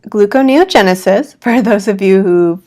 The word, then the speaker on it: gluconeogenesis: big G word when we research keto it's pronounced gluconeogenesis for those of you who read it but